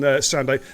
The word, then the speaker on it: Sandu: So Rocket Wolf says Sandu is pronounced like Lando. And also, I'm a she. Oh my goodness me. So basically, what you're saying, Sando, is I got it completely and utterly wrong.